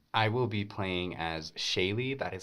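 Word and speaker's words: Shaighligh: Studio 76 um I will be playing as Shaye that is spelled s h AI g l i g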